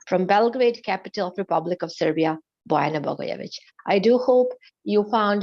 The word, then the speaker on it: Serbia: uh so dear it is not Siberian for God's sake it's Serbia Siberia is part of